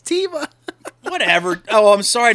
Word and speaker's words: Teva: I can pull off wearing Tevis sandals Teva this dude it's Teva whatever oh I'm sorry